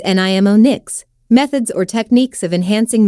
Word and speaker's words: mnemonics: section we will discuss mnemonics pronounced as nimo nics methods or techniques of